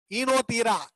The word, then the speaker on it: ஈனோதீரா: இப்போ ஈனோதீரா ஓ silent, ஈனோதீரா லாமார்கியானா. ஈனோதீரா லாமார்கியானா ஈஸ் அந்த ஈ லெட்டர்ல இருந்து இது ப்ரொனவுன்ஸ் பண்ணோம்.